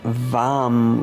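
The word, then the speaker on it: वं: And the one syllable Sanskrit mantra is vam with a v.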